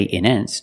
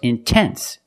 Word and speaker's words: intense: to pronounce a t I cannot say in ends no it's intense or words like intensive